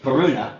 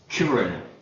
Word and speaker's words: Kiruna: I thought it was Karuna, and I thought it was Abisko, but they seem to always put the accent on their first syllable, so it's Kiruna, and it's Abisko. We landed at Kiruna as